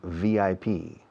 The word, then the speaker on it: VIP: En inglés no decimos VIP, decimos VIP. Pronunciamos cada letra.